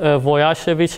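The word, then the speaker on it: Łojasiewicz: one should use so-called Voyager which inequality may be careful it's not pronounced l but rather w so if i ask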